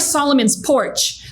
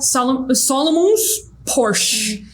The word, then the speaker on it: Solomon's Porch: Ou a pronúncia, tipo, vai usar Solomon's Porch. Só que o brasileiro vai falar Solomon's Porsche.